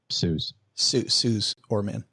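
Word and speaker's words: Suze Orman: Did do you pronounce it Suz or Suzy Orman? Suz Orman.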